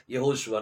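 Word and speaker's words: יהושע: ஆசீர்வதிப்பார் பாருங்க அது யெகோஷுவா யாஷுவா அப்படின்னு சொல்லி ஒரு கேள்வி வந்துச்சு சோ அதனால இந்த வீடியோ உங்களுக்கு முன்னாடி நான் வச்சிருக்கிறேன் சோ யாஷுவாங்கிற உச்சரிப்பு வராது அது என்ன உச்சரிப்பு வரும் யெகோஷுவா நான் வேதத்தின் அடிப்படையில் உங்களுக்கு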